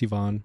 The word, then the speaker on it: Ivan: So you are Ivan, which would be how they pronounce it in Croatia. Unless you've anglicized it to Ivan. No, it's Ivan.